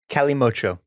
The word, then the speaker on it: Calimocho: Cali Mocho. Excuse me. Calimocho. That's the pronunciation.